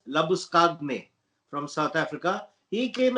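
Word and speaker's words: Labuschagne: when you know that la busheen as people call him but his little way of pronouncing the name let us get it right is manus labus kagne from south africa he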